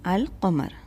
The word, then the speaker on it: القمر: and the next kamaria letter is cough so we can hear the lamb in Al Kumar the next gomoria letter